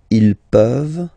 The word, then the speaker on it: peuvent: Tu peux, il peut, elle peut, nous pouvons, vous pouvez, ils peuvent, elles peuvent. Okay? As usual, this ending, this ENT ending, you write it, you don't pronounce it. Okay? Peuvent, peuvent, peuvent.